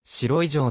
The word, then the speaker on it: 白井城: こともあるが地元の読み方は白い上である利根川と東川